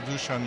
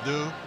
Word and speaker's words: Dušan: my last name, so it is correctly pronounced Dušan Mramor. But what they did, because Dušan is too difficult, I was due, and Mr. Amor, I became Mr. Amor with a thought after Mr.